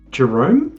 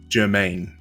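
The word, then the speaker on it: Jemaine: Jerome? Oh, even closer. Jerome. There's an S in there, right? It's like a... No, it's Jermaine.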